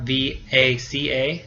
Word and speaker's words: vaca: So in Spain, it sounds exactly like a B, el violín, or vaca, V-A-C-A, is vaca. It sounds exactly like a B in Spain.